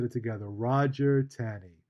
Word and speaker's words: Taney: Roger Taney. I think pronounced Tawney, but spelled Taney.